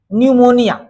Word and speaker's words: निमोनिया: चलिए निमोनिया P silent है। निमोनिया निमोनिया निमोनिया क्या है?